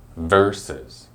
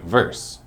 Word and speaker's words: versus: time are you ready to hear it it's versus I think that people get confused just from the abbreviation of vs so they think verse but that's weird because we don't actually pronounce